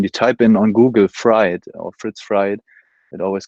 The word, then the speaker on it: Fried: It's Fritz Fried, actually, very German. But you can call me Fritz. So yes, I said it wrong. No. You know the name Fried, the surname. It's actually Fried, not Fried.